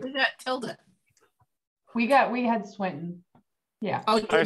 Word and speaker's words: Swinton: I will not accept Swenson because it's Tilda Swinton. Yep. Not Swenson.